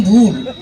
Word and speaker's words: ভুল: আরে ভাই উঁচু নিচু নয় বলুন উচ্চারণ। ওটা আমার ভুট হইয়ে যায়। আরে ভুট নয় বলুন ভুল।